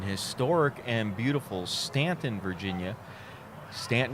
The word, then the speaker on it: Staunton: Stanton is one of those cities where you know who's not local when they pronounce it Staunton.